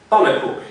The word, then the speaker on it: pannenkoek: Pannenkoek. In the pronunciation, there is a schwa.